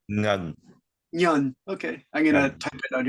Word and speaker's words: Ngan: I don't know how to pronounce that. Ngan, is it? Ngan? Negan? N-G-A-N. Ngan. Ngan? How do you pronounce that in Yeah. Vietnamese? That's my name. You should say Ngan. Nhan.